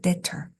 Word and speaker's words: debtor: debtor. 네, 역시 B가 발음이 안 되고요.